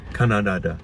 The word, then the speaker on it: Kannada: Kannada, right? Yeah, is it Kannada or Canada? Just like no, it's the country. Not, I know it's not Canada. It's not pronounced like Canada.